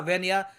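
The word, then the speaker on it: В: जी हाँ, वैसे आपको दिख रहा होगा कि ये बी जैसा दिख रहा है, मगर इस लेटर को ये प्रोनाउंस करते हैं इन रशियन एज वी।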